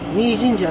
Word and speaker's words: 御井神社: 井戸にいと書いて三神社。はい、三神社と読みます。